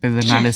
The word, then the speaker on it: Pedernales: Pedernales State Park in Johnson City, Texas, United States of America, third state from third the state.